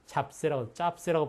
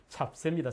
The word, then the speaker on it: 잡세: 짭세라고 발음하면 안 되겠죠? 잡세입니다. 잡세.